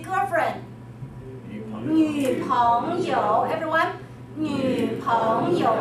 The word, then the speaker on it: 女: 女, 很好. Not the 奴, 是 U sound.